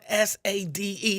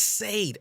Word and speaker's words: Sade: the English language like the person who likes people to call them shot at her name is spelled s-a-d-e that's Sade every day of the week her name is saved it's not Sade when you go to